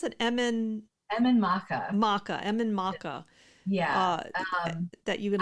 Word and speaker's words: Emain Macha: How do you pronounce it? Emain Macha. Emain Macha.